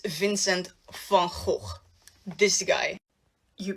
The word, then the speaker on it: van Gogh: No. It's Van Gogh.